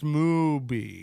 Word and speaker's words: Mooby: It's pronounced Mooby.